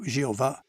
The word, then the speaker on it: Jeová: Em português, esse nome hebraico é geralmente pronunciado Jeová.